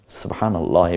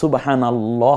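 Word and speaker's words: سبحان الله: উত্তর আপনি ফাঁকে চেনেন পরেরটা সুবহানাল্লাহ হবে না সুবহানাল্লাহ হবে কোনটা সহি সুবহানাল্লাহ পর হবে আউজুবিল্লাহ না আউজুবিল্লাহ কোনটা হবে আউজুবিল্লাহ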